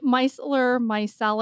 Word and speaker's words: micellar: off and I have a very difficult time pronouncing this this word Mel yep is that did I say it right yep micel myell mellar water is is that a great makeup remover